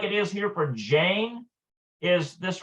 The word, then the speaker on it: ג'יין: Notice this little mark right here. This little mark right here means that it's not in the typical Hebrew phonetic. It's a hard G, like J, like jeans.